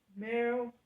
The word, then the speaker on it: Merida: It's yeah, pronounce her name Meryl. I think it's Meryl. I think it's Merida.